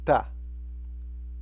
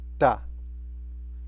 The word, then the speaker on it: ت: So this is how it's written and this is how it's pronounced. Ta. Ta.